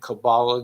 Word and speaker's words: Kabbalah: channels remember it's kgf Intel posts only and Kabbalah Guru that's spelled k-a-b-b-a-l-a-h Kabbalah Guru I'm posting all this Intel there's